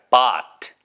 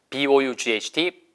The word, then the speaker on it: bought: 이거 bought라는 발음으로 잘못 발음하시면 안 돼요. 고쳐주세요. 주위에 그런 사람이 있으면 해보세요. bought. B-O-U-G-H-T, bought.